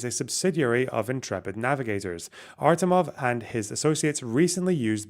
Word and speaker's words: Artemov: Artemov and his associates recently used both offshore companies to reinvest. It's Artemov. I was saying Armatov earlier. Okay, fuck off. It's Artemov, right? Stop saying I'm saying the name wrong.